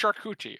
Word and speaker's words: charcuterie: Oz tried to charcuterie or whatever it is. It's pronounced charcuterie, okay?